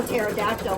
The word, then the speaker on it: pterodactyl: And you know, up until I started doing this design set, I didn't know pterodactyl was spelled with a P.